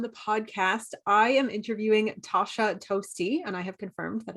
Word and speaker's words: Tosha Toste: ignited today on the podcast i am interviewing tasha toasty and i have confirmed that is how you